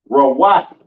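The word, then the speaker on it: רעות: Pronounced Rawat in the Hebrew.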